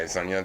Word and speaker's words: Adesanya: Yeah, Adesanya.